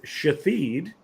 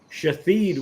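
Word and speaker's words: Shithead: the kid's name was the name of course was shaid shaed was the character's name but you can imagine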